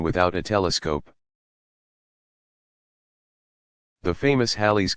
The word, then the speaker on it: Halley: a telescope the famous Halley's Comet pronounced Halle also called comet Halley